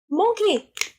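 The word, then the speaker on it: manqué: Mon is um Mon is like lost in French. It's spelled with an A. M A N.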